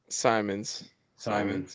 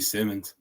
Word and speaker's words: Simons: They always say Javi Simmons. I'm like, you guys are saying that name wrong, I'm pretty sure. So it's gotta be Simons. There's no there's only one M. I know that. There's only one M in the last one. So it's Simons.